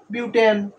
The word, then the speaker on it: বিউটেন: propane propane এখানে দেখো তারপরে কার্বন চার থাকলে হবে বিউট তাহলে কি বিউট এন বিউটেন বিউটেন উচ্চারণ বিউটেন তাহলে বুঝতে পারছো উচ্চারণটা